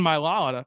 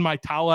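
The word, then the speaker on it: Mailata: his career and then Jordan milala or Jordan my tala I think is how you say his last name mitala Jordan matala the Australian developed into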